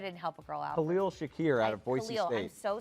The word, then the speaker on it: Khalil Shakir: about tight end today so out of virginia clear shakir wait i just totally messed up how many